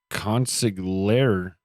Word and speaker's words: consigliere: Later, the consigliere. Damn, I looked that word up, how to pronounce it, dude.